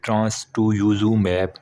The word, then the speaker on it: trastuzumab: TRASTUZUMAB, ट्रांसटुजुमैब, ये करके लफ्ज़ बनता है, प्रोनाउंसिएशन, ठीक है।